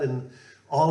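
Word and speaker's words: Inagh: There's a river that comes through the town called Ina, depending, I'm not quite sure on the pronunciation. I think it was I-N-A-G-H is the spelling of it.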